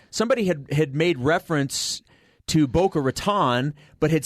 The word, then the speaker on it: Boca Raton: This is how the locals say it. And they say Boca Raton.